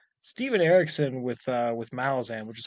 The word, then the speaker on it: Malazan: Like Steven Erickson with Malazan, which is how it's correctly pronounced. Just by the way, 2toRamble, y'all said Malazan wrong.